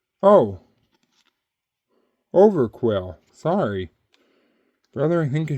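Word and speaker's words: Overqwil: as well H that's weird Okay V Star quill fish oh over quill sorry brother I think I said your name wrong the whole time anyways that's over Quil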